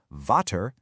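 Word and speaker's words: Vater: The V often gets the F sound, which makes the word for father, vter, sound like fetter.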